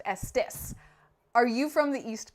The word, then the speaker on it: Estes: It is Vernon Glendas Estus' last name and it is pronounced Estis. This is like one of the first questions I asked, but they know that everyone pronounces it Estes.